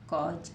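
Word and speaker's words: cause: ए यू एस ई ये एस है तो एस को हम किससे पढ़ रहे हैं जसे किससे पढ़ रहे हैं जैसे है ना सी ए यू एस ई तो क्या बन गया कज क्या बन गया कज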